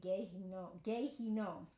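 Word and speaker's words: Gehinnom: from the judgment of Gehenna. Or it's pronounced, I think, Gehinom is how it's actually pronounced. It's the English, but that's how it's pronounced.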